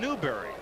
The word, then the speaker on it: Newberry: leading tackler right now from Newberry, which rhymes with his middle name Seabury.